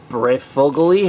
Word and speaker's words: Breyfogle: 55 let me get into all this um breyfogle e is how you say it preferably you know